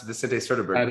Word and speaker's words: Vicente Sederberg: Did I pronounce Vicente Sederberg properly?